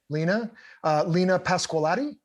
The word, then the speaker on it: Lena Pasqualati: On violin, you had, am I pronouncing the name right? Lena? Yeah. Lena Pasqualati? Yes.